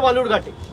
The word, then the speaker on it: বালুরঘাট: আরে আপনি যেখান থেকে লড়ছেন তার নাম ভুল উচ্চারণ করছে, বিকৃত করে বালুরঘাটকে বেলুরঘাট বলছে। আপনি গিয়ে বলতে পারেন না যে অমিতজি এটা বেলুরঘাট নয়, এটা বালুরঘাট?